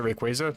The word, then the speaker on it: Rayquaza: want to pronounce it I always pronounce a Rayquaza because it's based on the word quasar but I think the official pronunciation is quasi but the official pronunciation